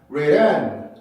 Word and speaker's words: written: T 발음이 모음 사이에 있느냐? 자, 모음 사이에 있죠. 라는 모음과 이라고 하는 모음. 이 발음은 강세가 있을 때는 3처럼 쓰고 없을 때는 이렇게 쓴다 그랬었죠. 그럼 요거랑 같은 발음이기 때문에 모음이에요. 이거는. 그러면 모음 사이에 있기 때문에 첫 번째 규칙을 만족을 시키죠. 그러면 플랩이 될 수 있겠죠. 자, 그럼 플랩을 한번 해볼게요.